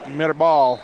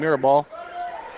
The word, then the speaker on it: Mirabal: Baca, and that is Mirabal. I'm going to say it like Coach does. I was calling him Mirabal. Put a little accent on it.